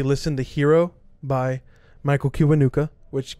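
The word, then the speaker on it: Kiwanuka: i would say listen the hero by michael kibanuka which kiwanika you spell it k-i-w-a-n-u-k-a um again just a great subtle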